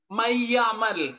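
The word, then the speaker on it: مَن يَعْمَلْ: Mayyamal, nun mati bertemu dengan ya. Mayyamal itu jelas dengungannya.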